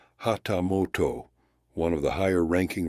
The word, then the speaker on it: hatamoto: 250 Koku placed Adams on par with the hatamoto pronounced hatamoto one of the higher ranking retainers who served the shogun directly and held the privilege of a personal audience with him.